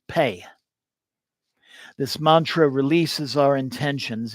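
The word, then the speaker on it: phat: It's traditionally spelled P-H-A-T, means crack or boom, but in Tibetan it's pronounced pei.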